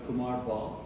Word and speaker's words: Kumar Bahl: sure so as you uh after practicing uh pronounce my name correctly it's Dr Kumar ball I am a double board certified psychiatrist uh